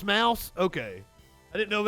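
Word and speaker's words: Maus: contained swear words and a naked illustration it's pronounced mouse okay i didn't know if it had like a german like moose graphic novel mouse a survivor's tale depicts how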